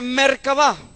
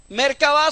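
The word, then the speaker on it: מרכבה: Cómo se dice carro en hebreo se dice mercabá merca va mercaba son en este momento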